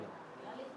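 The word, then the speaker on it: knowledge: के साइलेंट कनाइफ नहीं बोलते इसको के लिखा हुआ है पहले नॉलेज में नॉलेज में नहीं बोलते निमोनिया में नहीं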